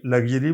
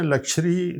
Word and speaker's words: luxury: لگژری بھی پڑھتے ہیں, لکشری زیادہ اس کا تلفظ ہے.